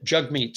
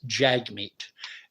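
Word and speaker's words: Jagmeet: be stuck with him you know until and jug meat sing that's one thing I wish they would do Peterson and paev both in their interview in their talk refer to jug meat sing as Jag meat and the man's name is pronounced jug meat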